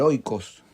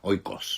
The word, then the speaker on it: oikos: La casa, el oikos o el oikos. Sí. ¿Cómo se pronuncia? Oikos. Oikos, no oikos.